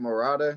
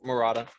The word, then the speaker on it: Murata: you could tell what what's his name morata that's how you say it yeah morata yeah morata so he man you